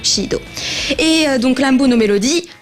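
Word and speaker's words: SID: Donc ça s'écrit S-I-D, mais je crois qu'en katakana ça se prononce bel et bien Shido.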